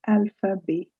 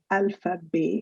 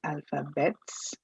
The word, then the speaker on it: alphabet: learning that is laze alpha b yes you heard right i said alpha b and not alphabets although we write alphabets but we pronounce it